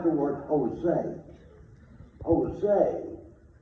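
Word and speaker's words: José: Jose is J-O-S-E, but it's pronounced with an H.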